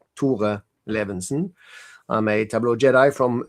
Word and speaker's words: Tore Levinsen: So, I pronounce it Tore Levenson.